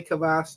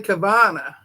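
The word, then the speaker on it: Kavanagh: I bought that book from her, and that's by Shelly Kavas too. No, Shelly Kavana. Is it Shelly Kavana? I've been saying her name wrong all this time. Oh my gosh, yes, it's Shelly Kavana.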